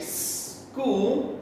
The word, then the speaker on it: school: careful for ch okay sometimes we make the ch sound and sometimes we just make the k sound for the letter c it's a hard c sound okay so here's my ch school she started s c